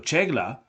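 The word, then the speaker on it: Çağla: So they are pretty new and are consisting of Kegla C to be pronounced ch. So, Chegla like in Charles vocal synths and furen which is guitarbased drums.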